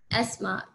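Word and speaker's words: asthma: एस्मा. टीएच को ना silent. हाँ जी, एस्मा. इसको टीएच को आप साइलेंट मोड में रखोगे.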